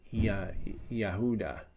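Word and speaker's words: יהודה: back in those days, the J sound, as in J, did not exist. It was a Yahuda, that would be Judah, or Judea.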